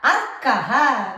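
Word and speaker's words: अर्कः: But when we pronounce it, ir only comes first. Irka, arkaha, we write, right? Arkaha. The ir is pronounced first. Ir, then the letter that carries it.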